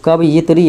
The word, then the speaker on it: कवयित्री: तो कवयित्री ऐसे होता है, कब फिर यित्री, ये हृषिकर और तोरा दीर्घिकर, इस प्रकार से होता है।